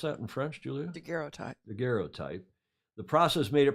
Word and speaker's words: daguerreotype: At that time, the French Academy of Sciences announced the daguerreotype process. Is that how you pronounce that in French, Julia? Daguerreotype.